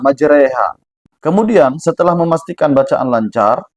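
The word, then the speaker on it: مجريها: Bismillahi majriha, majriha mana ada ee di dalam bahasa Arab tuh e. Tapi ketika kita membaca ayat ini, kenapa kok dia harus bacanya majriha? Majreha.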